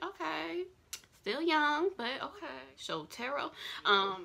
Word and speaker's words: Shotaro: Shotaro. It looked like Shotario to me, but I'm sure that's not how you say it.